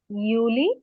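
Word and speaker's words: Juli: আবার আমি উচ্চারণ করে দেই, জানুয়ার, ফেব্রুয়ার, মার্চ, এপ্রিল, মাই, ইউনি, ইউলি, August, September, October, November, December.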